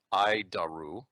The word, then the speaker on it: ADIRU: data initial reference unit we pronounce it i daru horrible name but i'll